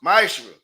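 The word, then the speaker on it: מעשר: Means tenth in Hebrew, and it's pronounced ma'ashra.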